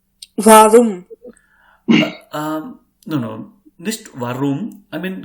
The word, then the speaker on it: warum: Give some extra emphasis, extra effort on speaking this r. Like suppose if a cat is very angry, so she will pronounce like she will make her sound like grrr, grrr, grrr. Yeah. So you have to pronounce it like warum.